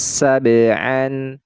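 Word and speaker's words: سبعا: sukunnya fauqokum saban saban kemudian di sini huruf ba huruf ba adalah salah satu huruf Qalqalah nah ini ya Nah ini hukumnya adalah Qalqalah sugro qol qah sugro ya terjadi pada pertengahan bacaan sab sa saban Nah jadi dipantulkan ya huruf ba ini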